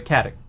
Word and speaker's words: Caddock: Pronounced like Candok, but without the N. So Caddock.